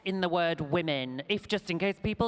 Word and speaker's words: Womxn: we briefly talk about the word women with an X it is not pronounced we're mixin which I've been doing